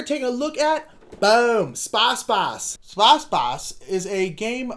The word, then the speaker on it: Space Base: Sposs Boss, not Space Base. Space Base is the incorrect pronunciation.